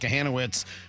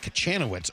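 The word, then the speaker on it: Kochanowicz: Yeah, that came off of Jack Kahanowitz, who I mistakenly referred to as Jack Kachanowitz earlier, and I was corrected. You know what? Cares. The C is silent.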